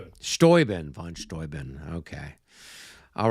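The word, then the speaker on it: Steuben: Stoben.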